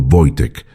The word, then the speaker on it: Wojtek: pronunciado Voitec, que en polaco significa guerrero feliz o soldado alegre, un nombre que resultaría proféticamente adecuado.